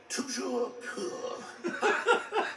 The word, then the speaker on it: Toujours pur: Toujours pur.